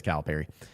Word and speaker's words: Calipari: Everybody's going back and forth on how do you actually say his name, but it is Calipari.